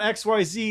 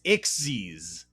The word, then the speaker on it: Xyz: summon pronounce xc oh it's not xyz it's ixes or if you read